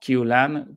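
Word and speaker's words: CUE: veremos Cuáles son tiene que como q Lan pero se pronuncia que en el centro de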